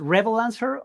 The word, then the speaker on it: Revolancer: perfectly I mean it's it's a combination of Revolution and Freelancers so it depends how you pronounce those two words okay amazing so uh